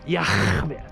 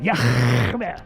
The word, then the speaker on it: Yah: His name is Yah. That's how you pronounce it. Yah.